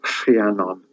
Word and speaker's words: Rhiannon: Okay, Rhiannon. So it's got sort of the H sound actually comes before the R. Rhiannon. And you can trill the R a bit if you want.